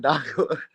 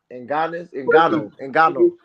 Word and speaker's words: Ngannou: you always saying Ndago. uh, and, Um, how you um, say his name? Damn. Ngannou.